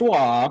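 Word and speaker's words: Roy: card that has Patrick Wah. It's pronounced Wah for all you people who need to know.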